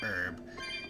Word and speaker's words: herb: See, the curious tidbit about the word herb is you'll often hear British people say herb, like pronouncing the H.